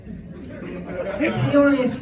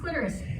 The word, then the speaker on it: clitoris: all about the Cordis cletis the cletis and then when I was about 25 I was engaging with a cletis somebody else's and I learned it's pronounced clitoris another CW